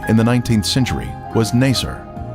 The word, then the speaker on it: Naser: the 19th century was Naser this pronunciation is similar to nicer a village that the